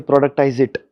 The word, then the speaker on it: productize IT: Okay, productize it is what how you would pronounce it.